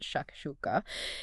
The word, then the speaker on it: shakshuka: You pronounce it shakshuka.